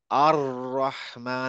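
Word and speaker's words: الرحمن: সবাই বলে আর রহমান কিন্তু এরাবিয়ানরা আর রহমান বলে না আর রহমান একটা রটা কাঁপতে থাকে আর রহমান আর রহিম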